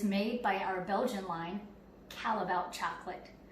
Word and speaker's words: Callebaut: It is made by our Belgian line, Callebaut chocolate. Another acceptable pronunciation is Callebaut. A non-acceptable pronunciation is Callebaut. Don't say that.